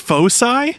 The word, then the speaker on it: foci: is in videos thing that's pronounced Foci is it Focus no no it's not that's